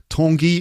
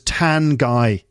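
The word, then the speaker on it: Tanguy: marking and stuff and so tangy for me in my head was tan guy because it is like it's spelled t-a-n-g-u-y tan guy and i can't i could never get over that but it's basically your name is written tan guy and um but they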